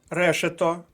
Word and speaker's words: решето: до першої колонки свердло решето наголос на перший склад поповнюємо колонку з наголосом